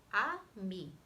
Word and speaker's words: ami: You say it like this, ami.